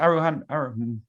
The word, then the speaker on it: aroha: I just want to say thank you and aroha nui. Pleasure. And you often use that Maori word, and it's excellent. How do you pronounce it? Aroha.